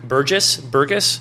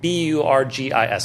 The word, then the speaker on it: Burgis: So there's a guy, I'm probably going to say his name wrong, Luke Burgess, something like that. Yeah. Burgis, I believe.